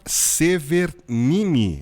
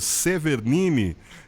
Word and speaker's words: Severgnini: satisfação de entrevistar a minha querida amiga Severnini. É isso mesmo? Eu falei direitinho ou será que eu errei a pronúncia, hein? Certinho, Falei Hélio. certinho? Severnini.